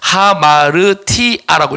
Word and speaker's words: ἁμαρτία: 알파의 위에다가 여기 붙으면 히 발음이 되거든요. 그래서 하마르티아라고 있습니다.